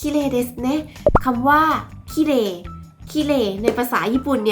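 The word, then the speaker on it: きれい: เน้น คำ ว่า ว่า ขี้เหร่ ขี้เหร่ ใน ภาษา ญี่ปุ่น เนี่ย เรา น่า จะ ได้ ยิน กัน บ่อย ใช่ ไหม ว่า คำ นี้ เนี่ย มัน จะ ออก เสียง คล้าย กับ ภาษา ไทย เนาะ เอา เสียง คล้าย กับ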